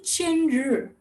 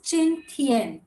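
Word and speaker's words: 今天: So you don't say chin r. It's always chin tien.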